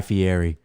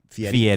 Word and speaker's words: Fieri: merge, I want Guy Fieri in that game. I think that'll be cool. You guys know that's not how you say his name? Fieri.